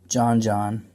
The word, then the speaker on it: Joxn: If you want some more talk about chess and other games, follow me on Twitter at JohnJohn. Remember, the X is silent, because that's where the H died.